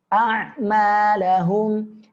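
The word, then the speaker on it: أَعْمَالَهُمْ: Indonesia tapi di sini perhatikan ya hamzah huruf Arab pengucapannya di pangkal tenggorokan huruf ain di tengah tenggorokan maka berbeda ya a'malahum baik kita gabungkan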